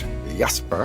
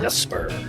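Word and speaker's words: Jesper: It's It's spelled J E S P E R, but that's not how you say it in Danish. It's Yesper. Yesper.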